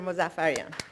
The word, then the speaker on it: Mozaffarian: Mozaffarian. So thank you very much, and it's so unusual to be introduced with my name pronounced correctly.